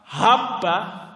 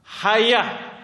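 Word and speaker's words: حبة: Dia bacanya apa? Alhayatus sauda dawaan likulidah. Hayah. Hayah itu artinya ular. Jauh sekali. Hayah. Haba. Ular hitam itu adalah obat untuk seluruh penyakit. Ini adalah kekeliruan dalam membaca. Sehingga menjadi urusannya urusan besar.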